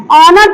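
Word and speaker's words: honour: उच्चारण करते हैं तो उसमें एच का उच्चारण नहीं करते हैं एच का उच्चारण क्या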